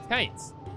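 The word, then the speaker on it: Kytes: Is that how you say his name? Kite. Uh, kits. Kites just with a Y.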